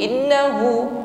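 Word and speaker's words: إنه: Nun tasydid, ghunnah musyaddada. Dengungkan ya, jangan keburu. Innahu, tapi sempurnakan dulu dengungnya. Innahu, hu panjang 1 alif, mad silah qasirah.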